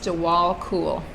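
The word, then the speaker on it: Djwal Khul: Okay, so it's pronounced Jawal Cool. He's cool, Mr. Cool.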